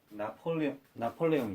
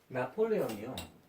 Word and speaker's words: 나폴레옹: 예를 들면은 나폴레옹 있잖아요. 나폴레옹을 미국식 발음으로 하면 어떻게 되려나?